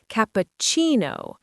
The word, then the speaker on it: cappuccino: And the stress is on the chi part. Cappuccino. Cappuccino.